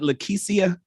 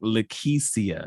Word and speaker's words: Lakeisha: hear your sexy voice, are we saying it right? Is it Lakeisha? Yes, I screamed when you said it the first time. I was I like, remember. All right, so it is in fact Lakeisha.